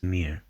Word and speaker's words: mirë: mëngjes, This letter represents a schwa sound, and you'll see this a lot in Albanian. But notice that it's reduced and almost not heard at the end of words. mirë, And notice that this